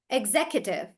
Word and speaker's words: executive: But we will not say Q. We'll say executive.